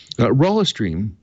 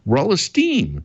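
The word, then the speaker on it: Rolisteam: Rollistream, I said it wrong again. Rollisteam is a virtual tabletop software.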